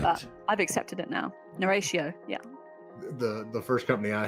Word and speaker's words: Narratio: Narratio. Just think Narratio with an N.